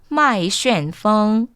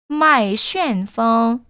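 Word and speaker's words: 麦旋风: 麦旋风, 麦旋风. 여러분 이 발음 굉장히 중요합니다. 중국어에서 이런 발음들 놓치지 않으셨으면 좋겠어요. n이라고 읽으셔야 돼요. 麦旋, 旋 이런 발음들을 조금 주의해서 읽어주시면 좋겠죠.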